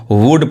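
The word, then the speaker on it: would: यहाँ पे इसको कुड पढ़ेंगे और यहाँ पे इसको वुड पढ़ेंगे, यानी सब में एल साइलेंट है, एल नहीं पढ़ाता है।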